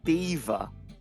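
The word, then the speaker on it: Belvoir: this one always catch this one even catches me out uh it's actually beaver beaver nice Beaver it's Beaver that's no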